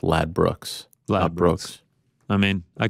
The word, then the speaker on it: Ladbrokes: Angela's telling me it's pronounced Lad Brooks.